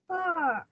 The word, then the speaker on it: her: Her. Đúng rồi, đọc là her, không đọc là here ha.